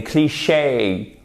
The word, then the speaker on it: cliché: Par exemple, « a cliché ». Vous voyez, un cliché au lieu de un cliché, un cliché. En plus, vous avez l'accent tonique sur la seconde syllabe, ce qui renforce encore plus le côté anglophone.